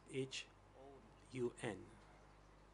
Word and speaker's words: Hun: Is that commune chief Hong? For the interpreters, it is spelled as H-U-N.